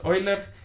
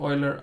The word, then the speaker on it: Euler: Okay, so Clayton asks, wait a second, Euler isn't pronounced Euler, it's pronounced Euler. It's German, so it's Euler.